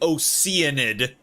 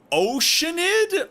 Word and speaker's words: Oceanid: why why do they why do they pronounce it oenid stop stop doing that oh o either like oceanid or oceanid the fucking name literally has ocean in the word oceanid oceanid who does that